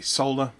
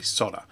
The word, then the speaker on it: solder: the world say solder some parts of the world say solder there is an argument to be made for each of those pronunciations based on the word etymology but at the end of the day as long as we all know we're talking about the same thing it doesn't really matter a basic principle of